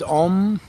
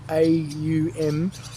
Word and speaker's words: Aum: And just as I was saying, as we try to pronounce it a lot of times as Om, it's not OM, it's actually AUM is the correct pronunciation of it to get your